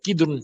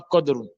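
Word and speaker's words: قدور: Il faut bien faire la prononciation. C'est kidroun, pas codun.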